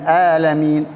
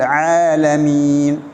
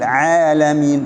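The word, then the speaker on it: العالمين: பெரிய ஒரு தவறு ஏற்படுகிறது சிலர்கள் சாதாரணமாக ஹம்ஸ உடைய சத்தத்திலே ரப்பில் ஆலமீன் ஆலமீன் என்று வாங்க அது பிழை ஏனென்றால் அது அர்த்தத்தை மாற்றக்கூடியது எனவே அதை ஐனை சரியாக உச்சரிக்க வேண்டும் ரப்பில் ஆலமீன் ரப்பில் ஆலமீன் என்று உச்சரிக்க வேண்டும் அர்ரஹ்மானிர் ரஹீம் அர்ரஹ்மான் இதிலே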